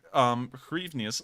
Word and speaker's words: hryvnias: For police to pretty much extort 300 hryvnias. Let me see how that's actually pronounced real quick, so that way I can make sure to get that right.